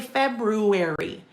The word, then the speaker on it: February: Uh because I think it's common that we drop the first R in February. We say February. We don't say February. But um when I say like here when we're together, February, I always annunciate February and almost like wedness day, too, right?